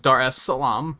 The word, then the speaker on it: Dar es Salaam: very curious so i checked um it is pronounced dar es salaam i kind of nailed it i guess maybe